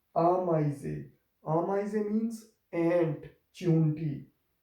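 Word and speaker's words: Ameise: फिर हमारे पास ये एक कॉम्बिनेशन था ए ई इन जर्मन लैंग्वेज, और ये एक आई की आवाज़ प्रोड्यूस करेगा, इसलिए ये आमाइजे।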